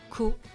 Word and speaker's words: comment: Comment Remember the T at the end of comment is silent.